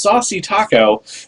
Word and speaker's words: Shasha Kiko: Cordron, Shasha Kiko, pronounced Saucy Taco, T.A.